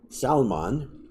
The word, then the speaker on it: Salmon: Zipping on through, 2 verses later, you've got Salmon, spelled like salmon, but that's not the same.